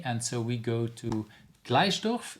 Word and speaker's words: Gleisdorf: so we go to Gleisdorf. Is that how I should pronounce it? It's Gleisdorf, and it's in Austria.